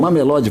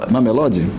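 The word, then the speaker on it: Mamelodi: Mamelod, vamos falar assim mesmo. Mamelode. É, é, pode ser. Eu acho que é como eles pronunciam lá, Gav.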